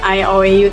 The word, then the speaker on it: IOU: Yang bacanya I owe tuh kami, saya berhutang padamu, tapi jaminannya ada jaminannya emas.